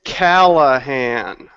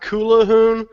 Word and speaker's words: Callahan: It's Callahan. That's Callahan. it. Well, the uh my name is properly pronounced Kulahoon, but that that doesn't roll off the roll off the tongue like Callahan can.